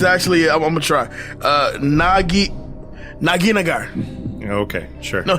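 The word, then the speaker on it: Nagheenanajar: Naginagar. Okay, sure. No, Naginajar.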